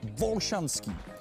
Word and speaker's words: Volšanský: Praha má 7 hřbitovů, z kterých největší jest Volšanský. Ne, to není moje špatná výslovnost olšanských hřbitovů. Skutečně tady Volšanský u vsi Volšan.